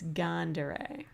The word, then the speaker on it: Gandere: Variations, Gundere. Oh, really? But in Japanese, it's Gandere. Because, you know, the pronunciations are different.